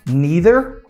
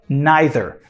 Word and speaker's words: neither: So you can either pronounce that neither or neither. Então, as duas pronúncias são aceitáveis, beleza?